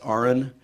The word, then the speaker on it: Aron: is not Aaron, it's Aaron. And everybody gets it wrong. And I explain it's spelled like Aaron, but pronounced like registered nurse. R-N.